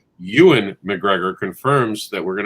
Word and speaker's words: Ewan: weekend including star wars ian you and yo thank you i always get his name wrong so the way you look at it it's like it looks like ian ewan mcgregor confirms that we're